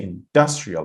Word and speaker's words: industrial: You have to say industrial, industrial, not industrial.